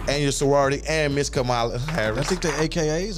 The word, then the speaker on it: Kamala: Kamala, bro. You been pronouncing it wrong.